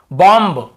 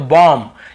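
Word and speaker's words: bomb: नहीं जानते तो आप इसे क्या पढ़ते कॉम बम थम डम ऐसे पढ़ते हैं ना ब का उच्चारण करते लेकिन देखिए एम के बाद यदि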